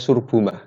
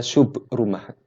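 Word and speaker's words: شبرمة: Orang sering bacanya Surbumah. Saya dengar Surbumah, padahal dia Subrumah.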